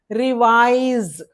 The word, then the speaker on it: revise: Slowly revise but as per the count of sounds it it it will be taken counted as one vowel sound. So reise two syllables. Okay. Reise word stress is on wise.